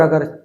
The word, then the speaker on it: अं: अगर अ के ऊपर अंग की बिंदी है तो इसका हम उच्चारण करेंगे अंग। अ बोलेंगे और अ के बाद नाक से ज्यादा और मुंह से कम आवाज निकालेंगे तो उच्चारण होगा अंग का।